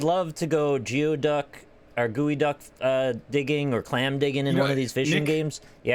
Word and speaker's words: geoduck: Because I'd love to go geoduck or gooey duck digging or clam digging in You know, one of these fishing Nick- games. Yeah. Let's just call it a geoduck. It is a gooey duck.